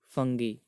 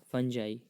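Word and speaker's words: Fungi: उसके बाद 2 चीज़ें इन्होंने और ऐड की, एक तो मोनेरा और एक फंगी या फंजाई, जो भी आप प्रोनाउंस करते हो इसको, फंजी या फंगाई, कवक बोलते हैं जिसको हिंदी में।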